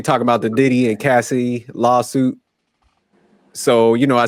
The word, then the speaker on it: Cassie: was you saying Tosh I thought her name was Casey it's Cassie it's Cassie yeah Cassie Cassie